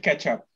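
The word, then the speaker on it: K8up: the next one is k8 up or ktop or i don't know how you're quite supposed to pronounce it they said ketchup ketchup that's very good um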